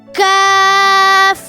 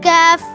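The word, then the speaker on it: كاف: The letter Kaf has a thin sound and different from the letter Qaf, which has a heavy sound.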